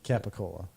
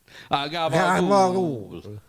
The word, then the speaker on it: capicola: It's Capicola. Yeah, that's what the Americans say, Capicola. And then, Italians. Gabagool. Give me the gobble.